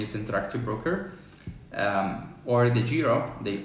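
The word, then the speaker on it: DEGIRO: Interactive Broker um or the Giro they or the hero as you pronounce here in Europe um don't go for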